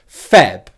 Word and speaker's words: February: First of all, the stressed syllable in this word is on the first syllable, Feb.